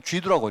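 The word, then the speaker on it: 基督: 그리고 중국 사람들은요, 그냥 이 기독을 그냥 그대로 우리는 기독이라고 읽는데 그 사람들은요, 한자로 기독이라고 써놔놓고 그건 쥐두라고 읽습니다. 쥐두. 그 예수 지두라고 합니다. 예수 그리스도 이렇게.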